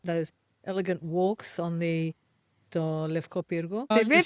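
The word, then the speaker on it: Λευκό Πύργο: It's got those elegant walks on the Levko Pyrgo.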